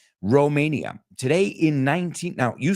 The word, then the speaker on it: Romania: Romania. Today in now you say, interesting, in Spanish you say Rumania, like Rumano con U, no? We say it like Romano, like Rome, like Roma, Romania.